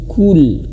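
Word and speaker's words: قُلْ: Kul harus manyun kul. Jangan kul. Nah, harus qul qul qul auzubirabbil falaq.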